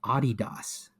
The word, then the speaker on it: Adidas: I So you're support not gonna Adidas.